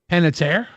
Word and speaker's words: Panettiere: Panettiere?